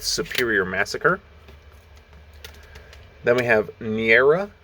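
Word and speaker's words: Neaera: massacre then we have niera i believe is how it's pronounced n-e-a-e-r-a with uh what's this one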